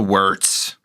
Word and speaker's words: Wirtz: The Wirtz. I'm going to pronounce it with a V because I don't want it to remind me of Rocky Wirtz.